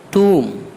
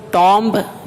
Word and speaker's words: tomb: لیم بھیڑ کا بچہ، ٹوم TOMB ٹوم، اس کو ٹامب نہیں پڑھیں گے بلکہ ٹوم پڑھیں گے، ٹوم TOMB۔ تو دیکھیے